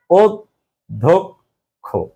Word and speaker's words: অধ্যক্ষ: কিন্তু সহজে ছিল অধ্যক্ষ, কিন্তু এখানে দেখো উচ্চারণটা কি অধ্যক্ষ। হ্যাঁ, অয়ের উচ্চারণ কি হয়েছে, এখানে ও হয়ে গেছে।